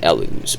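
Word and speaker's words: Elw: And the elves, which are called the Elus, it's pronounced Elus, but you're gonna, it's their pen and paper time, because it's a strange letter, strange word. We get L-W, yeah, that's W, and that's not a U, that's a W.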